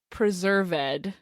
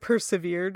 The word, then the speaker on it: Preserved: Yeah, and I think it's a Quaker name. So Are you sure it's not like persevered or something? Nope. It's PRE. Wow. Unless they pronounce it persevered. But it reads as Preserved Fish.